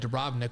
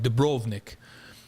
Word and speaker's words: Dubrovnik: how you say it I would have called it Dubrovnik but now I learned that you have to call it Dubrovnik and you had to say it with an accent like that but all